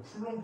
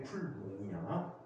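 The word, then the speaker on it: Coulomb: 쿨롱은 원래 사람 이름인데 쿨롱이야. 쿨롱인데 쿨롱이라고 교육부에서 지정해서 발음시키고 있지. 어떻게 비인데 롱이 되지? 참. 뭐라고? 끝에가 비인데. 이건 묵음이라니까.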